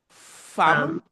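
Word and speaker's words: fanm: Fam. Now our Patwa has become again denasalized. So solutions will spell this word F-A-N-M because they say farm.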